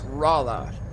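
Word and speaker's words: Rolla: Hey, I was 100% wrong the first time I said I said Rola, Missouri. Nope, it's Rala.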